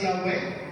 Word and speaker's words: Yahweh: Okay, so from Yahweh, I am who I am, represented by these symbols, YHWH as a transliteration. We pronounce that as Yahweh, Yahweh Adonai.